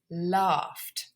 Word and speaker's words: laughed: To laugh. Okay, again, f like sniff. Even though it's spelt GH, it is still an unvoiced consonant sound, so it's laughed.